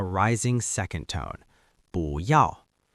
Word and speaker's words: 不要: We use the negation 不要 . The secret tone change. Before we look at examples, there is an important pronunciation rule you need to know.